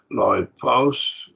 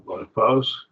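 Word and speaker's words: λοιπός: See, loipos, 2 syllables, diphthong, loipos.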